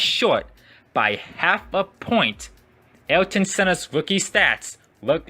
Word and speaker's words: Ayrton: race weekends and said, "Why are you pronouncing my name like that? Ayrton. It's not Ayrton, but Ayrton."